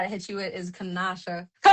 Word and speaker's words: Kenosha: Yeah, uh so the pronunciation I got to hit you with is Kenosha.